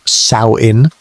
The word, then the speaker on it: Samhain: The Kelts called it Sam Hoyin, pronounced Saoin, and it marked the end of one year and the beginning of another.